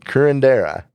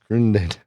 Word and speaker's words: curandera: Folk killer, how do you pronounce it? Working on that. Cure- Curendera. You might Curandera.